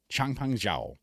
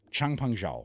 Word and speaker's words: Changpeng Zhao: I'm talking about Changpeng Zhao. I think that's actually how you pronounce his name. Of course it is. Changpeng Zhao.